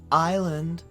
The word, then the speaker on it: island: Island. S is silent.